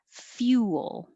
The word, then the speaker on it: fuel: Fuel, fuel. Not exactly 2 syllables like that. You'll make it a little smoother. Fuel, fuel. But the point is you have to think of rounding your lips, few, and then not rounding your lips for the L, fuel.